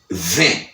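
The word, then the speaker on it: twenty: 20, qui c'est 20, il écrit 20, américain prononce 20. Il pas dit TA parce que TA c'est un T qui silent. OK? Là nous dit T silent, il dit TA pas prononcé. Il juste dit 20.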